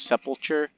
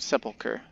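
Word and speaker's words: sepulchre: the Jade Sepulcher huh I didn't learn how to say the word Sepulcher for a long time the first time I saw it I thought it was sepulture or seapulture or something like that yeah but Sepulcher might as well put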